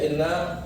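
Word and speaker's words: إنّ: Kenapa dibacanya inna? Ya, karena innanya itu dia berada fil ibtida, permulaan kalam. Permulaan omongan dimulai dengan inna, maka wajib innanya itu dikasrohkan pada hamzahnya, ya.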